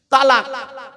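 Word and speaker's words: طلاق: তালাক। কি বলে? শব্দটা কিন্তু তালাক নয়, শিখে যান আজকে। শব্দটা তালাক নয়, শব্দটা হলো কি? তলাক।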